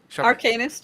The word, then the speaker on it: Arcanist: Then of course, Nightmare Arcanist, Arcanist. How do you pronounce that? Arcanist, you got it right.